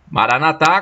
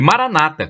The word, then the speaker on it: Maranatha: dita por são paulo maranatha maranatha com a tônica na última sílaba como dizem os católicos e maranata como dizem os protestantes ambas as pronúncias tem o mesmo significado vinde senhor jesus é